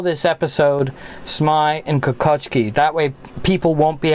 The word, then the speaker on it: Kokocki: It should be Kokocki, or Kokocki is the Polish pronunciation.